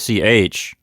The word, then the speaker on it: ich: the front too so when the word that's ich it's not in the back of your throat the way we're saying it here in the book is that it's like the beginning of the word huge with air pushing over the top of your tongue yes maybe think of